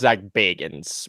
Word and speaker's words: Zak Bagans: Zak Bagans. I wonder if Frodo Baggins helped him out of there. Well, it's pronounced Zak Bagans, but all right.